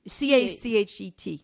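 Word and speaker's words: cachet: due process any courts so kashi can you spell that okay uh it it uh they call it so cas c-a-c-h-e-t yeah the cache it was like the stem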